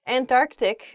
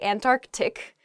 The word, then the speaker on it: Antarctic: saying this word quickly you might leave out that first C in the Antarctic so don't say that don't do that say Antarctic the the very very